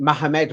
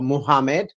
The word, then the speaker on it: Muhammad: Yeah, so you could pronounce it Mohammed, Mohammed, or Muhammad, however you want to.